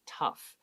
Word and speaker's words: tough: uh the third word tough okay so even though it's t-o-u-g-a it's pronounced like t-u-f-f okay the g-h is pronounced like f tough for bowen so